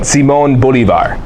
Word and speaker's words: Simón Bolívar: There's an accent on the O, and so it's pronounced. I love talking in the Spanish accent. Simón Bolívar. Simón.